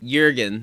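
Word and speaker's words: Jürgen: what was it then jurgen is how it's pronounced in in yerman how many hours of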